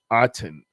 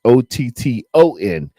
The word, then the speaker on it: Otton: Number 88, Cade Otton. Otton. I spelled his name wrong on my Witchicom. It's Otton. Cade Otton.